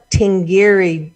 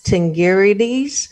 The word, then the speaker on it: Tingirides: I found her name, Amada Tingiri. I didn't say that. I didn't say it right. Tingirides, a Watts native.